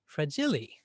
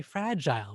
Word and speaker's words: fragile: we say it's fragile now fragile has an i-l-e at the end of it and sometimes people looking at that might say well why isn't it pronounced fragili why do we say fragile why do we toss off this e now one way to